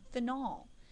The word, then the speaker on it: phenol: also want to mention phenol and it is pronounced Fen phenol is what happens